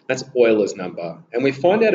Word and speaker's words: Euler: it's actually a known number so e is euler's number okay and to make sure you pronounce his name correctly is arguably the greatest